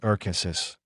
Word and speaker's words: Arkansas: a brown stretch of the Arkansas, pronounced Arkansas, River, on the north by a highway, Route 50, and on the east and west by prairie lands and wheat fields.